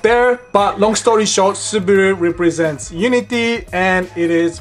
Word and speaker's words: Subaru: next up we have Subaru in Japanese we pronounce this Subaru a Subaru is the manufacturing division of Fuji